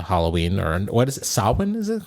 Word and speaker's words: Samhain: I'm good, chilling, getting ready for Samhain, which is for you guys Halloween.